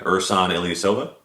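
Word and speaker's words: Ersan Ilyasova: Uh, you're gonna have to help me with this pronunciation. Ursan Ilyasova.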